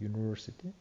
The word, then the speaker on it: university: Çünkü bu yazılışına değil Bunu telaffuz ederken bu yı olarak yani böyle kısa ünlü gibi değil ünsüz olarak telaffuz edildiği için a University olacak yani